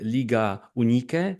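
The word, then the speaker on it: Liga Unike: And I'm especially interested in your experience in Liga Unique, as it is called, how we pronounce it, which combines like Albanian and Kosovian teams playing Hmm.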